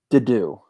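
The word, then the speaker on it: Dedue: Dedu. Am I saying it right? Yeah, that's correct.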